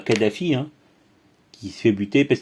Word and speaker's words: Kadhafi: servi beaucoup alors oui kadhafi et thierry meyssan ou ou même stratégique à saint-quentin ils disent toujours toujours gueddafi nous sommes et la prononciation de l'arabe parlé voilà bien le talent